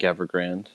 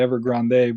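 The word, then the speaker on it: Evergrande: pronounce it ever yeah I think evergrand yeah that's I mean you can say ever Grande but I don't think that's how you say it but no it's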